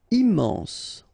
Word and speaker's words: immense: Immense, final E not pronounced, immense.